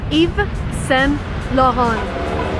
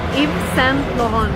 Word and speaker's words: Yves Saint Laurent: And again, if you want to be correct, you want to read it in a French manner. So it's Yves Saint Laurent. Yves Saint Laurent.